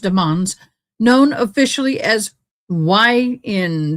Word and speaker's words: Demons: Um Jamal Deans, not Demons, but is pronounced Demans, known officially as YN W Melly, already faces